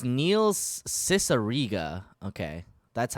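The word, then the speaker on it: Cicierega: thought i knew it pretty well it's neil's cicerrega okay that's how you pronounce it but yeah um everybody knows neil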